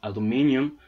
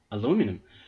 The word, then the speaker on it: aluminium: about the extraction of aluminium or aluminum aluminum yeah Americans say aluminum weird huh uh that's not